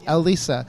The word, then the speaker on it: Elisa: be it Elisa yep so I've seen the letter L and then Lisa El Lisa Elisa so you must have